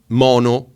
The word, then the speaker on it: Maono: thing so well done maono I always say maono because mono seems to me you know stereo mono but it is pronounced mono so I apologize to